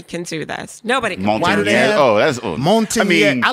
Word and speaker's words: Montanez: So when he first moved up here and I first got married to him, I would pronounce it properly, which is Montanez.